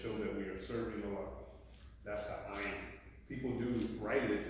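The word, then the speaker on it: الله: like I was saying Allah is it has the H of the end so it's important to to make that a thing to pronounce that as much as you can abdah is servant of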